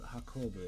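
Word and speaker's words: 運ぶ: Oh shoot, what's the pronunciation? Hakobu. Hakobu, that's right.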